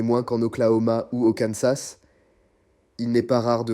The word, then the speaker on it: Kansas: Arkansas and Kansas. Par contre, dans le Kansas, le S à la fin, lui, se prononce.